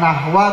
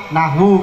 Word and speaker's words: nahwu: Tadi salah Kang Yadi, bukan nahwa tapi nahwu karena ma'tuf alaih.